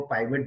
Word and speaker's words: pivot: सो आप इसको पिवट भी बोल सकते हो, पाइवट भी बोल सकते हो।